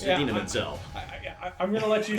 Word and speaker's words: Idina Menzel: He's not going to pull a John Travolta and refer to her as Idina Dazim. It's Idina Menzel.